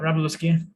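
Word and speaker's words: Wroblewski: you know the pronunciation luke how do you pronounce his last name right robleski yeah it always trips me up but he's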